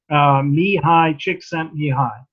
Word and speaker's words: Csikszentmihalyi: oh very few of us know how to pronounce his name correctly I think but we all know about his psychology of flow Mihai csikszentmihalyi and he co-authored a book before he became